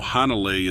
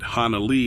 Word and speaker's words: Hanalei: You know, Hanalei isn't far from there, and there's that old song, Puff the Magic Dragon. Even though they pronounce it Hanalei in the song, it was really about Hanalei, Hawaii, which makes me think